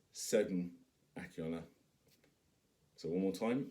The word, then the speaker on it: Segun Akinola: But if you're wondering how to pronounce my name, it's Segun Akinola. So one more time, it's Segun Akinola.